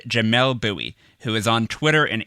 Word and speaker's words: Bouie: I asked you to tell me about someone who makes you think, and you said Jamel Bowie, who is on Twitter and Instagram at jbowie, and his username is spelled JBOUIE.